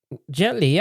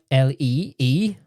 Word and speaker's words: Jet Li: Jet Li. I thought it was Jet Lee, as in Lee, but it's Li.